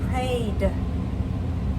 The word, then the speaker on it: prayed: So when we say pray, it has one syllable. It stays with one syllable. Prayed. Are there two syllables? No, we don't say prayed. Just prayed. Just one syllable. Prayed. Pray would be two syllables. That's wrong.